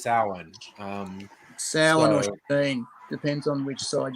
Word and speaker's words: Samhain: origin of what looks like samhain is actually pronounced samhain um depends on which side you come from